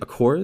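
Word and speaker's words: Aqours: Akors? Is that how you say Aqua, it?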